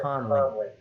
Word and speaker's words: Conley: I said her name right this time. It's not Connor, it's Conley.